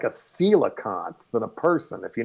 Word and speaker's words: coelacanth: It's spelled like coelacanth, C-O-E-L-A-C-A-N-T-H. They pronounce it coelacanth.